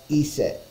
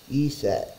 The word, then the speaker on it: Iset: The true Egyptian pronunciation is unknown. An Egyptian hieroglyph only recorded consonants and left out the vowels. The Egyptian hieroglyphics for her name are commonly translated as gist or as an a convenience. Egyptologists pronounce that as Iset.